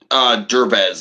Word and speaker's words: Derbez: And then you've got Ava Longoria, Tamar Morrison, Benicio del Toro, and what's his Eugenio Debris? Is that how you pronounce his name? Derbez, it looks like. Derbez, okay.